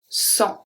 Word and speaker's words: sang: The next one we're going to see is when the G at the end is not pronounced. We have le sang.